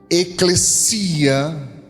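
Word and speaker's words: ekklesia: trata sobre reino amém a palavra eclecia Essa é a pronúncia correta é uma palavra que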